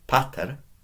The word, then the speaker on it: pater: But this time it's short. I haven't put the long vowel marker on. So, pater, mater.